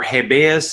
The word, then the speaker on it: habeas: is the host of habeus humor or habeas humor if you do the British pronunciation this New Jersey based